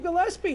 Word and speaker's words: Gillespie: Gillespie. Gillespie Comedy, like Dizzy Gillespie.